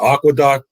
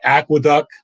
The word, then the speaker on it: Aqueduct: from oaklawn fairgrounds uh aqua duck i'm sorry aqueduct because i was reading the comments and somebody kept getting on me for mispronouncing aqueduct as aquadoc but same as i